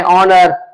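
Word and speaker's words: honour: साथ एच मिले और एच अपनी आवाज खो दे अलिफ मत की साउंड डिलीवर करें और उसके बाद हम जब प्रोनाउंस करें तो अलिफ मत की साउंड से करें ऑनर ऑनेस्ट आवर जैसे मिसाल दी इसके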